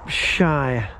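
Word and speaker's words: Sheiy: you pronounce his name, it's pronounced Shy, but I think you spell it S-H-E-I-Y, and he's like, he does a lot of travelling around on foot, freight hopping.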